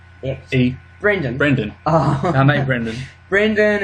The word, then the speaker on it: Eich: Eich. Eich.